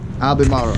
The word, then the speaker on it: Albemarle: do you say the name of the town Albemarle Oh Albemarle oh we're here and yeah so day number